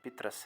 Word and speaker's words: پطرس: آ جائیں۔ پطرس بخاری، یہ اصل میں تلفظ جو اس کا ہے وہ پطرس ہے، پطرس بخاری۔ پیر سید احمد شاہ